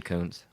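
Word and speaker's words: Koontz: with them that Dean Koons did you know it's actually pronounced cons I'm not making that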